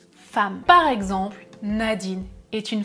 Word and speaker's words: femme: une femme oui attention j'écris femme avec un e mais je prononce comme un a femme femme par exemple Nadine est